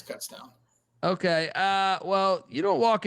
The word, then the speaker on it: Kutztown: No, I think you're right with Kutztown. We would say Coots as a joke, but no, it's Kutztown.